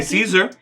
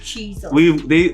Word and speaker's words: Caesar: I could say Caesar. Cheeser. No. It's supposed to be Cheeser. The comments have gone back and forth. Long story short, they pronounce Caesar is not a Japanese name, so us pronouncing it how it's meant to be is fine. The powers that be have spoken. Either.